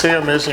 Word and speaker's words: Sayon Mayson: It's Sayon Mayson, right? Yeah. Yes. I just want to make sure I get the pronunciation right.